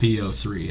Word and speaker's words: PO3: mad calling him PO3, his name is pronounced PO3. I know some people out there call him Poe because leet speak. His name is not Poe. It has zero fucking meaning towards him as a character to be calling him that.